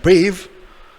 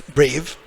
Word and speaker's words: brave: E est muet. Silent E. It looks like brave, but en français c'est brave. In English, as you know, it's brave.